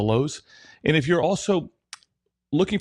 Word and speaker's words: Louhs: on our youtube channel which again is the lowes it's spelled quite uniquely it's l-o-u-h-s that's the lowes and if you're also